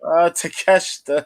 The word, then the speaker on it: Takeshita: Takeshita.